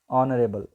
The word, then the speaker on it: honorable: already discussed about the how to use when some words are silent Brutus is an honorable man honorable pronunciation today kanpur is a